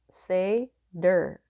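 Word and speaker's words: seiðr: comes the sorcery of oh you pronounce it seder let me just show you s-e-i-d-r is pronounced say der i kind of wish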